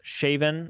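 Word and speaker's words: Siobhan: liked the name uh siben uh pronounced shaven oh shaven i believe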